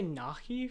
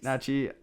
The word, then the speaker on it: Najee: But did you say Nahi for Najee Harris? Najee, I don't even know. I'm pretty sure you said Nahi.